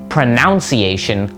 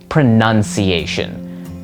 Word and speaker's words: pronunciation: In fact, if you look at the spelling of the word, the O that would normally be next to the U in pronounce is gone. And that is because the real way to spell this word is pronunciation. That is just with an N U N in the middle.